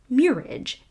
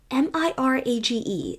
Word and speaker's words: mirage: And, not waiting for Valency to give it up, he added, "Murage and marriage." "Mirage is pronounced mirage," said Valency shortly, picking up her tea and her beans.